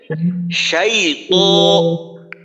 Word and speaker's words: شيط: শাইত। শাইত মোটা করে বলবো।